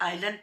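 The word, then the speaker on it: island: You reach the आइलैंड, इसे आइलैंड पढ़ते हैं, एस साइलेंट आता है, बाय लैंड और एयर।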